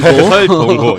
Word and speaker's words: 설동호: 그 전에 발음 잘하셔야 돼요. 동호 아니고 설동호.